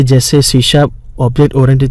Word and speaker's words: C#: सी sharp is pronounced as सी sharp, SHARP, पर लिखने में है C#, और वो एक नई